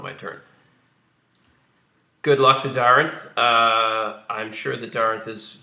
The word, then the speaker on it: Daarinth: And for the record, it's Daarinth. Well, I mean... not Actually, my. last name is spelled with double A, and it's pronounced A.